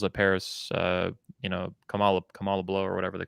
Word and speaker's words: Kamala: uh that you could you could never say kamala it's kamala uh and you're culturally insensitive